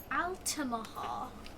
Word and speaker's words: Altamaha: and at first I didn't know how to pronounce this one but now I sort of know it it's Altima Hall yeah the altamaha sea monster which I guess